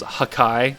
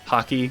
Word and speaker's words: hakai: some point out that this is hakai not hockey like I said in the last video which confused me